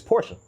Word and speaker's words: Porsche: It's Porsche, not Porsche. It's Porsche.